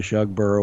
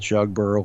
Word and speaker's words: Shugborough: the things I've looked at with regard to Shug bur Hall which is hard to pronounce that that U they used a similar technique like there's a legend of something being hidden at shugborough Hall be it the Holy Grail or the